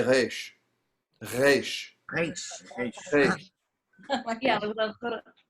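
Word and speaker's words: ריש: most people in America say Resh. Okay. So if you want to speak with an authentic Israeli accent, feel free to pronounce it Resh.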